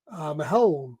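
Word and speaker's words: McElhone: starring George Clooney and Natasha Mahel, I think is how they pronounce it.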